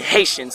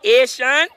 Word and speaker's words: Haitian: tell me because I'm Haitian the same I had a good conversation with we were real good friends when she pronounced hate she's like your ear shun me no like no ear shun so what is the